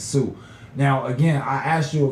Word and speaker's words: Sioux: older than me that said the Sioux X Indians instead of the Sioux Indians when the real pronunciation is Sioux.